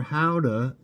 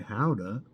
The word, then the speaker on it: Gouda: Gouda, or Gouda, as locals say, Gouda, is a Dutch cheese named after the city of Gouda in the Netherlands.